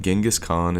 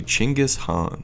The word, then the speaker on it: Genghis Khan: most people in the Western world actually say his name incorrectly the correct pronunciation of Genghis Khan is actually chingus Han but I'm gonna stick with Genghis for the rest of the video because I don't speak Mongolian good with that said